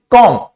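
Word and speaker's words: comb: कॉम। इसको हम यहां पे बी का प्रोनाउंसिएशन नहीं होता है, इसको हम क्या पढ़ते हैं? कॉम पढ़ते हैं, कॉम।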